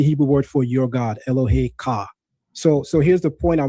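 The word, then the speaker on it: אֱלֹהֶיךָ: That's the Hebrew word for your God, Elohe Ka.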